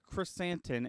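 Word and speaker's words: Krrsantan: CR chrysanthem chrysanthe curse his name is black chrysantin and it's spelled k r r s-a-n-t-a-n yeah that sounds correct that's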